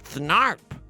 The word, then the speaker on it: Thnarp: Lois, that's why my name is Thnarp, like a harp.